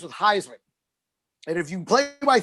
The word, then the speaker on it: Heisman: They started pronouncing it Thiesman in college because his college coach was like, Thiesman rhymes with Heisman.